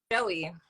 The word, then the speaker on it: Joie: say your name right it's just Joey listen to your application video and you said like a joke about this I had to give that emphasis okay well I was saying it right though it was just French I like to speak it like it was a little French you know congratulations and